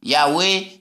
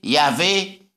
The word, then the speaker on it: Yahweh: prononcez 4 lettres là, YH, qui m'a quoi prononcer mot là, et qui ça signifie? Yahweh, Yahvé.